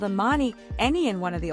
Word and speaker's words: Ammani: She introduced herself saying, "My name is Ammani and it's actually pronounced on men and I."